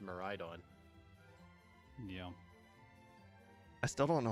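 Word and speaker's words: Miraidon: on it I know so it made sense that maridon should be the same way but apparently Wolfie says uh miradon and I'm like what this doesn't make sense I saw a video when he was talking about it he says uh miradon and I get really thrown off it's it's like because it's like a mirage miradon I think but I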